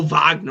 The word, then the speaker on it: Wagner: just call all right so just MO Mo Vagner well I know it's Mo Vagner I just want to know how to say